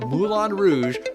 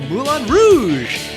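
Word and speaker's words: Moulin Rouge: going to be doing Mulan Rouge I guess is how you should pronounce it yes that's the French way to pronounce it I'm it's exactly like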